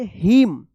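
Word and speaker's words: hymn: क्या है साइलेंट रहेगा एच वाई एम एन क्या पढ़ेंगे हिम हिमन मत पढ़िएगा या हिमन मत पढ़िएगा क्या पढ़ेंगे इसको हिमन पढ़ेंगे यहां पे एन जो है ना साइलेंट रहेगा चलिए अब देखिए यहां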